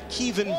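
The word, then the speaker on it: Kevan: out of the way early they call him Kevin Henry around here he told us it's actually pronounced Kievan Barlow Lusaka polite Antonio Bryant Latif grim and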